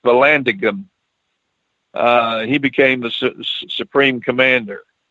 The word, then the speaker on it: Vallandigham: dig it's it's Vallon v Vallandigham so it's pronounced Vallandigham he became the supreme commander and out of